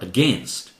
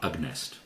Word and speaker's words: against: this zero okay orders against or against not AG nest disappoint how about this